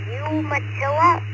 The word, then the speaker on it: Umatilla: Right, 783 and now we're going to pass on down to KO4QMM, Roger in Umatilla, Florida. I actually looked up on Google how to pronounce that, so I hope I got it right.